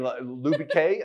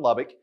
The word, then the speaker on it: Lubbock: Rosalie's like, wacko and Lubique. I love it. That's good, Rosalie. For those in Texas, yes, Rosalie just butchered your town. It's Waco and Lubbock, and he's in Texas.